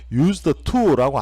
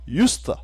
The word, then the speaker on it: used to: 어떻게 해야 되는가 하면 used to라고 안 하고요, used 이렇게 발음을 하게 됩니다. 이해되셨죠? used to는 조동사이고 발음할 때도 used to가 아니고 used처럼 한 단어처럼 발음을 해야 된다 이게요.